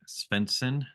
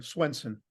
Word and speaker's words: Svendsen: got Steve Pastor Steve spencon am I saying your name right when I pronounce that just pretend it's a w Swenson Swenson see this is why